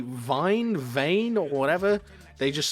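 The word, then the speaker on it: Wein: My surname is Vine, but it's spelt W-E-I-N, right? So in German, Vine is wine.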